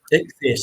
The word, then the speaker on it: Ichthys: Ichthys. Thank you. What's that again? Ichthys. Ichthys. Ichthys. Thank you. It's like an ichthyosaurus.